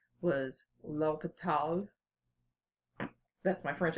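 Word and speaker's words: L'Hôpital: mathematician who devised this method his name was loketh Todd that's my French accent I hope you like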